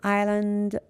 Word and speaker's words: island: Island, S is silent.